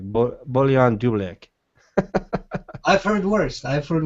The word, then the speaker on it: Bojan Dulabic: how do you pronounce your name um bullion uh boyan boyan dulabic boyan dulabic boyan not the easiest i'm fully aware don't worry well you know it's funny because i have to pronounce it the way you pronounce it so i give you like a basterized version of your own name so it's like bullion